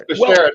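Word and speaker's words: bashert: Yes, it's Beshert. That was the latest word that I learned off Curb Your Enthusiasm. So there you go. It's Beshert, but if you want to call it Beshert, that's fine.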